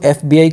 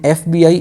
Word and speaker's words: FBI: तो यहाँ पे जो FBI की जो साउंड है, जो प्रोनाउंसिएशन है, ये स्टार्ट हो रही है किससे, ये हो रही है वोवेल साउंड से।